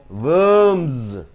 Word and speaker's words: worms: w o r m a m plus s worms worms next D process is equal to it's